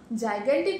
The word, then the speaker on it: gigantic: আচ্ছা মা, জাইগ্যান্টিক ওয়ার্ডটাতে দুটো জির প্রোনাউন্সিয়েশন দু রকম, কি অদ্ভুত না?